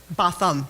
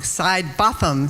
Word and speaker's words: Sidebothom: Botham. So I'm saying it wrong. Sidebothom.